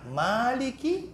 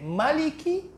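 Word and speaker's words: مالك: Ya itu kan ayatnya itu bisa dibaca panjang Maliki yaumiddin bisa dibaca pendek Maliki yaumiddin ya ada bacaan lain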